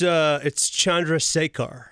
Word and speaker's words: Chandrasekhar: That's how he was telling me it's pronounced. How is it? It's Chandrasekhar.